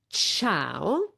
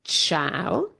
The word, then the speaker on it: ciao: And so this is the sound that the c makes for example in ciao. Great. Let's have a look at a few words with ch. For example, ciao.